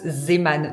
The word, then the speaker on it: Zeeman: Bon, apparemment, ça se prononce Zeeman, donc désolé pour les puristes.